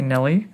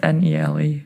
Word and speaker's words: Nele: So Nele, right? Yeah, it's Nele. Nele, Nele.